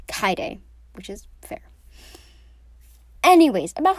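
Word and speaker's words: Kaede: is why google helps a lot i've been pronouncing it like katie but it's kaide which is fair anyways about her actual character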